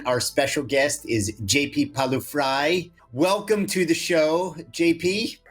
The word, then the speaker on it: Pawliw-Fry: with Seth deckman our special guest is JP palu fry welcome to the show JP you say my